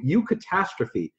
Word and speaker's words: eucatastrophe: And the word is, I'll spell it for you, eucatastrophe. It's E-U and then catastrophe.